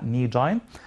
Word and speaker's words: knee: that knee joint muscle we cannot or we don't pronounce k knee so what about the